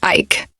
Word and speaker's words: van Ike: even gave his family the name van Ike pronounced Ike as Ike is Dutch for Oak for one day while